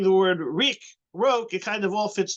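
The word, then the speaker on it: רוק: Rok.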